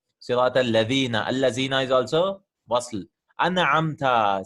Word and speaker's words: Al-Ladhina: If it was a Hamzatul Wasl, we would have just skipped it to Al-Ladhina, like something like that, right?